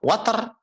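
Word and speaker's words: وتر: Watar cara membacanya adalah wa-nya diberikan harokat fathah, ta-nya diberikan harokat fathah, watar.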